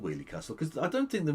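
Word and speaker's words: Weoley Castle: Okay, so he means Wheelie Castle again. So he's pronounced the area of Birmingham called Wheelie Castle as Wesley Castle and Wolverley. There isn't an S or a V in the name.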